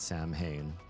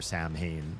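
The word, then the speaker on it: Samhain: wrong and so for Sam Hayne you don't pronounce the M as an M because it's it's not English end of story but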